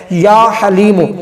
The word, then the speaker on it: یا حلیم: والی ہا ہے، تو ہا آپ نے وہ نکالنی ہے، ہا 2 آنکھوں والی نہیں پڑھنی، بس یہ غلطی نہیں کرنی، اچھے طریقے سے اس کا تلفظ کے ساتھ پڑھنا ہے یا حلیم، اور صرف ایک تسبیح